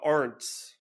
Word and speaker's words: Arndts: as well I found Erica Arts right is that in I pronouncing that correctly ARS you got it you got it good job I saw Erica's story